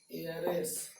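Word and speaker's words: heiress: लेकिन यहाँ लिख दें honest man, एम ए एन, यहाँ लिख दिए ऑनरेबल गर्ल, यहाँ लिख दिए एयर, यहाँ लिख दिए एयरेस। अब देखिए ये सब का उच्चारण वॉवेल साउंड के तरह है, इसलिए क्या होगा एन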